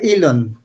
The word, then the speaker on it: Elon: y lo más que se pronuncia y long hay gente que le dice elon musk pero no se pronuncia y lo más que